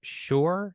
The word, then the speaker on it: Schor: Matt Schor, is that how you pronounce that?